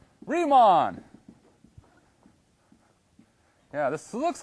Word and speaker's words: Riemann: Rhymes with he-mon. Riemann.